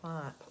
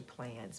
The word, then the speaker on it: Plans: So go watch Joanne Plons. It's actually Plans, but we pronounce it Plons because of Ashley in Scotland. That's the way she says it.